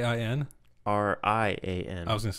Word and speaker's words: Rian: Rain? Rian. I was going to say, isn't that just rain? No. Rain Johnson. Rain Johnson. But this is Ryan, spelled differently, but pronounced Ryan.